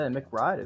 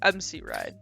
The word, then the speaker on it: MC Ride: I'll say McBride is still floating out there. Whoa, isn't whoa, he? whoa! MC Ride. Say it properly. MC Ride.